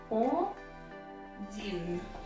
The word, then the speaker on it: один: Один. Один. Yes, so it's O-D-E-N. O-D-E-N, один. And you can pronounce it something like this. Один.